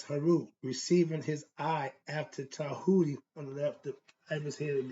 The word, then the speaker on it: Tahuti: Okay, it's spelled a few different ways. They spell it Djehuty. Some use the I, some use the T, okay, TH, okay, Tahuti, TEH, so spelled different ways, but it's all meaning he represents God's mind.